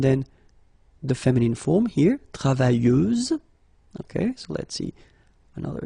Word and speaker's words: travailleuse: Feminine form, travailleuse, same rule and same phonetical thing, you don't pronounce the final S, so you get travailleuse. Okay, travailleur, travailleuse.